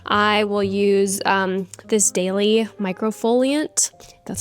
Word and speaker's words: Microfoliant: So I do a monthly facial, and then usually on a weekly basis, I will use this daily microfoliant.